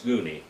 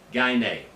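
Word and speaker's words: γυνή: And if you pronounce Greek wrong, it's Guni, but that's not right. That's Greek. That's German for Greek. German pronunciation of Greek, not the Greek. Gyne.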